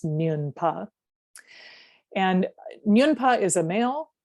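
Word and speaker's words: smyon pa: And the term in Tibetan is nyunpa, nyunpa. If you, I don't know, some people like the Tibetan words, but if you wanted to write it down, it's S-M-Y-O-N, it's nyun, pronounced nyunpa.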